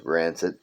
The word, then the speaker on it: Ranxid: I do have another YouTube page, which is Rancid TV, spelled with an X. That's me, Rancid, Ranxid. You can Google that.